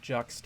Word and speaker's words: Juxt: yeah uh it's pronounced juxt as in like juxtaposition I mean I guess